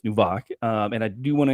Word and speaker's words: Nvak: to dive into and apologies I said new vac earlier it's nubok and I do want